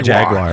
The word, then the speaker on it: jaguar: say Jaguar Jaguar yeah we say jaguar jagar how do you say Jaguar Jaguar Jaguar like it's spelled uh yeah yeah I